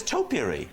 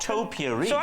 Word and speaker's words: topiary: you say well it's topiary it's not topiary there's a man iron in his bread because I'm saying a bit like potpourri what the hell's David